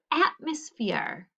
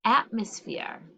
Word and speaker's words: atmosphere: a closed syllable too and this e is kind of got a schwa sound going on because it doesn't really sound like ah we sometimes say must it sounds more like a u so we would